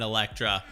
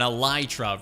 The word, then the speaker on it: elytra: only do i have an electra or an elytra rather i guess i just realized i said it wrong but we both have